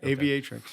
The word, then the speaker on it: Aviatrix: little bit about what aviatrix does did i pronounce that right yeah aviatrix yeah it's uh it means female pilot right